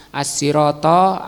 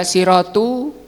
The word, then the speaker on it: as-siratal: Karena ini maf'ul atau objek, tunjukkan kami ke jalan yang lurus, as-siratal mustaqim. Sehingga di sini di fathah juga, enggak boleh dibaca siratu atau siroti. Bacanya harus fathah.